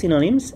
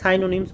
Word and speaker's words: synonyms: তো এটাই এই লেসনের নামটা বলা হচ্ছে সিনোনিমস এন্ড অন্টোনিমস। তো সিনোনিমস এন্ড অন্টোনিমস। ঠিক আছে? অনেকের উচ্চারণের সমস্যা হয়। তো তাদের জন্য আরেকবার বলতেছি। সিনোনিমস অন্টোনিমস অনেকে সাইনোনিমস বলল না আবার ঠিক আছে তো এটা সিনোনিমস আর এটা হচ্ছে অন্টোনিমস